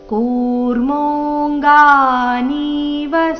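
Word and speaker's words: ಕೂರ್ಮೋಽಂಗಾನೀವ: ಚಾಯಂ ಯದಾ ಸಂಹರತೆ ಚಾಯಂ ಕೂರ್ಮೋಂಗಾನಿವ ಸರ್ವಶ ಕೂರ್ಮೋಂಗ ಕೂರ್ಮೋ ಎರಡು ದೀರ್ಘ ಕೂರ್ಮೋಂಗ ಕೂರ್ಮೋಂಗ ಮೋ ನಂತರ ಕವರ್ಗ ಅನುನಾಸಿಕ ಅದರ ನಂತರ ಗ ದೀರ್ಘ ಕೂರ್ಮೋಂಗನಿವ ಇಲ್ಲಿ ನಿ ದೀರ್ಘ ವರಸ್ವ ಬರಬೇಕು ಕೂರ್ಮೋಂಗನೀವ ಸರ್ವಶಹ ಇಂದ್ರಿಯಾಣಿಂದ್ರಿಯಾರ್ಥೇಭ್ಯಸ್ ಇಂದ್ರಿಯಣಿಂದ್ರಿ ಇಲ್ಲಿ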